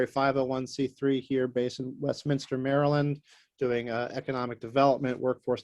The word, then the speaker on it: Westminster: You just have to use the discount code 1MC Westminster. That is Westminster, not Westminster, as we were talking earlier. People often mispronounce our name here.